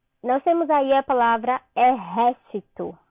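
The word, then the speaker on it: ejército: Nós temos aí a palavra exército. Qual a sílaba tônica de exército? O ré, né? Que é com J, mas como vocês sabem, o J tem o som de R em espanhol.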